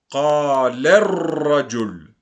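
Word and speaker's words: قال الرجل: la deuxième, le t, je fais la liaison entre le lemme et le ra. Donc, qalarra. Je prononce pas l'article. Bien faire attention à ce point. qalarrajul.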